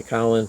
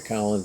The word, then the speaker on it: Colin: But anyway, my good friend Colin some people say Cullen, certainly if you're from the UK you're going to say Cullen, but his mother preferred the pronunciation Colin, so that's what we all called him.